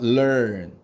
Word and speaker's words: learn: learn. 자, 이거 대부분의 우리나라 사람들이 이 단어를 learn이라고 발음하는 경우가 있는데 이렇게 발음하시면 안 돼요. 자, 어떻게 발음하냐? learn이라고 말하다가 갑자기 on으로 발음하는 느낌으로 해야 돼요.